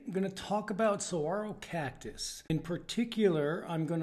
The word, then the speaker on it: saguaro: thanks for joining me Mighty saguaro cactus pronounced Saguaro scientific name Carnegie gigantia